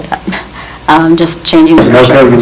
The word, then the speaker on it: Sunoco: Sunoco, you mean? Sunoco, there you go, thank you, it is late.